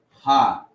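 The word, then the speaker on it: ה: But ha, right? It looks like an E or an F, but you pronounce it as ha, right?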